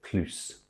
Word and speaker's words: plus: Thirdly, when it's attached to a noun via de, we also pronounce it plus.